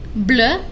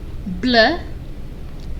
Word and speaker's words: bleu: Bleu. Bleu. They're pronounced the same, just there's an extra E if it's feminine.